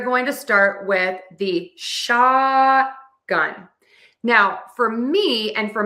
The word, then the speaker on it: shotgun: We actually do mark the T here. It's an unreleased T. So, we say shot and we just hold the tongue to the spot where the T starts. We just don't pull it down and we don't release the air. And then we move to the gun.